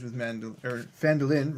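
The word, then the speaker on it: Phandalin: rhymes with Mand or felin rhymes with mandolin that's how I remember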